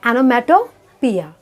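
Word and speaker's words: onomatopoeia: Next figure of speech है ऑनोमैटोपोइया। इसका pronunciation है ऑनोमैटोपोइया।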